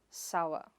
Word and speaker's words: sour: It is not soor sor, but sa-wuh. The /r/ is silent there.